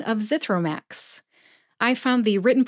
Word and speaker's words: Zithromax: of brand named drugs Zithromax has three syllables zith like the word myth row like you row a boat and Max which is short for maximum put all three syllables together and you get zithro Max which syllable do you